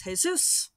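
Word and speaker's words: Jesús: and it's amusing because his name is jesus which is a very common hispanic name especially in this region but it is spelled like jesus and so i've had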